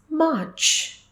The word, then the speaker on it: March: March no it is March it is March the ER sound is silent R is silent it is March moving